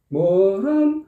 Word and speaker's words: 모란: 이런 식 으로 "Moran-bonga" 를 발음 하려면 'mo' 에서 'ran' 으로 건너 뛰어야 합니다 . 예 . ' 모란 ' 을 한 번 에 , 날카롭게 눌러야 합니다 . 질질 끌지 말고 , ' 모란봉 가